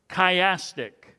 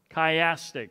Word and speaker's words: chiastic: what the scholars call chiastic chiastic c-h-i-a-s-t-i-c chiastic chiasm is from the greek language which means an x an x key is how you say that in the greek and you'll see this